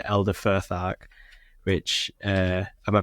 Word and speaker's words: Futhark: So, it's saying Elder Futhark. Which Am I pronouncing that right, Will? You Futhark.